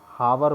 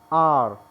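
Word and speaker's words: hour: इसको कुछ बच्चे गलत प्रोनाउंस करते हैं, इसको हावर बोलते हैं, जबकि ये है आर, ये होता है और व को बहुत हल्का बोला जाता है, व का साउंड इसमें मिक्स होता है, एक तरह से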